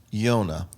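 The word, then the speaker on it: יונה: but it's Yud Vav Nun He, and it's pronounced Yonah. Now, how do we say that? Jonah. So Yonah is a dove.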